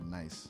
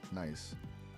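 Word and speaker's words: gneiss: G N E I S is pronounced nice.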